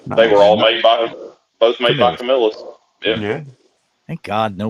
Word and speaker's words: Camillus: They were all made by Camillus. Yeah. Yeah. thank God no one's saying Camillus. I'll have to take them off Camillus. the show. That drives me insane. Camillus. Camillus, people.